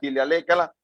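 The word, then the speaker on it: Ihaleakala: Jorge Vitale lo conoce y a través de Joe Vitale comienza a hacerse, se pronuncia Hilialécala y escribe su primer libro, Ho'oponopono.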